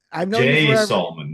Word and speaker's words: Salmon: Look, if you're pronouncing it salmon, you are spelling it correctly.